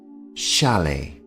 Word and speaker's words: chalet: is called a chalet the T here at the end of the word is silent shalet and because they are